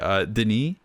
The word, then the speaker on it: Denis: Denis, I believe is how you say his first name, has pulled off in this movie is amazing.